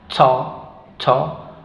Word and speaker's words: thought: sonido que es o to to la g y la H no se pronuncian y la t final sí tot tot tot siguiente palabra